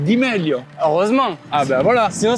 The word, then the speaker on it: Di Meglio: On est d'accord que ça se prononce à l'italienne. C'est Mike Di Meglio.